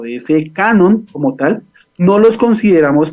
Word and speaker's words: canon: el Canon de acuerdo Canon no cañón ni mucho menos ni Canon la marca de toallas hay haer la la aclaración aunque se escribe se escribe igual Canon viene de hecho